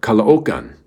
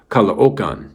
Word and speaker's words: Caloocan: She was from the suburb of Manila called Caloocan. Now, it looks like it's called Caloocan, okay? But if you say it that way, the people laugh at you. So it's pronounced Caloocan.